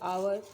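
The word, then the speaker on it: hour: जैसे आवर, जैसे आवर है, एच ओ यू आर, आवर, लेकिन इसके पहले क्या है? कॉन्सोनेंट लगा है, लेकिन उच्चारण क्या हो रहा है? आ रहा है, इसलिए इसके पहले हम क्या लगाएंगे?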